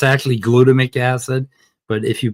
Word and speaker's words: glutamic acid: It's actually glutamic acid, but if you pronounce it glutamic acid, you'll understand that it's an E.